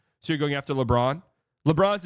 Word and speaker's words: LeBron: LeBron's a two-syllable name.